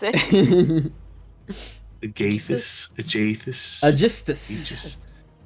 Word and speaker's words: Aegisthus: No, that's not how you pronounce it. Agathis, Aegisthus.